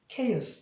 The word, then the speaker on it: chaos: 예를 들면 이렇게 했을 때는 얘가 키읔 발음입니다. 그래서 chaos라고 있죠. chaos 이런 식으로 발음하고 뭐 이렇게 돼 있을 때도 얘가 받침으로 하나의 철자가 됩니다.